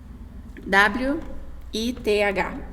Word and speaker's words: with: W-I-T-H. Se pronuncia with. Logo eu vou ensinar vocês a como pronunciar o TH, que ele tem um jeitinho diferente. Mas por enquanto você pronuncia como U e F, with.